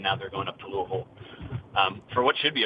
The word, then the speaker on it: Louisville: media enroute to louisville that's how you say it louisville not louisville it's louisville how does the usl